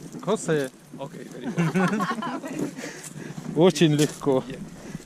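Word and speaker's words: José: Now you pronounce my name. Jose. Хосе.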